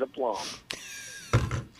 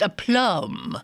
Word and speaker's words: aplomb: Well, we'll both agree that the B is silent.